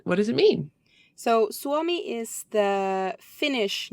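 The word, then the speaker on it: Suomi: across the word oh help me pronounce this Swami very good u-o-m-i did I get that right yeah absolutely Swami um what does it mean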